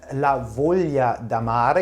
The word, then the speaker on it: La Voglia d'Amare: haben wir hier den lavolia damare jetzt habe ich das endlich mal richtig ausgesprochen ich habe das nämlich vorher